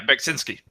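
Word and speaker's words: Beksiński: So, how did you pronounce that name? Zdislaw Beksinski. Beksinski. Yeah, Beksinski.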